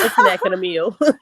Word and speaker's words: Asnack Nameal: pronouncing my name correctly it is a snack in a meal right it's it's a creative name right it is a